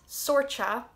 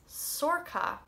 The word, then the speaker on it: Sorcha: not least we have one that's not sorcha it's sorca so not not hugely difficult it's just get rid of your idea of c h b and ch and change it to k and you got it right the irish form of